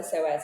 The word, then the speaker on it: psoas: so first of all it's not spelled like you think it would be there's no Z up in that it's a p ps o o a s PS it's p why